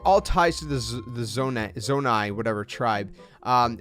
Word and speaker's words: Zonai: about this tribe called the zo zonai if i'm pronouncing it